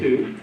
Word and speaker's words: Ku: So my name is Koo. My website, last name is spelled K-U, it's simple, 2 letters.